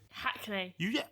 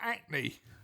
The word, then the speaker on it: Hackney: Hackney. Why do you pronounce the H on that? Because that's not your typical thing, is it? Is it not acne?